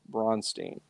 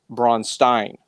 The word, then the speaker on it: Braunstein: because this word, bronze teen, and that's pronunciation bronze teen. Unless you want to do more of the Austrian Braunstein. You know, like do Haus Mick. If you want to do that, that's cool, too.